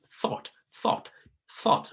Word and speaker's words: thought: You pronounce it placing your tongue in between your upper and lower teeth.